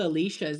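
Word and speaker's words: Alish's: It's called Alicia's. It's spelled exactly.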